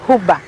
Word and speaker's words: Uba: get old and retire actually my name is hubba it's only that my dad may spell it my birth certificate so i cannot call myself and the certificate is but most of the